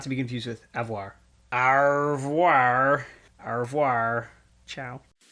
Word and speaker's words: au revoir: Avoir is a verb. Au revoir. You don't pronounce the re.